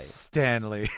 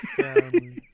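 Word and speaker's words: Sctanly: yes um oh okay it's Stanley spelled with a c and an ey y at the end so it's on if being spelled s c t a n l y Stanley Stanley I love it uh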